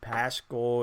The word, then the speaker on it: Paschal: They started Kai Bowman and Paschal, and it is Paschal, by the way. I was right on that pronunciation.